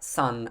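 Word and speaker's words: さん: when you get to sun even though it is spelt s-a-n it's pronounced more like sun as in my son or his son y-o-n go number six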